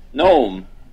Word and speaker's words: Nome: Nome. Except without a G, so it's not a little tiny old man pedophile.